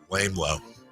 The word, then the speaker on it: LaMelo: Lame Low. That's how it's pronounced.